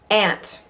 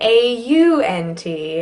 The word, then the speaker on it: aunt: Ant, and I mean A-U-N-T, unless you're on the East Coast. The standard is ant. If you say aunt, we'll know what you mean, but we'll think, oh, aunt, huh?